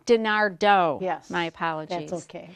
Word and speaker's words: DeNardo: the corner and Denise dinero who is a garden a gardening expert she has a company four P's yard care Denise I'm sorry I just said your name wrong correct denista dinardo yes my apology that's